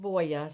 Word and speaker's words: Voie: It's her name is spelled Voie, but it's pronounced Voya.